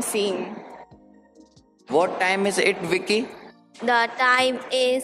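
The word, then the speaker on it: Vici: oh my voice input child identical v-i-c-i I pronounce it Vicky Vicky that's cute come in here Vicky say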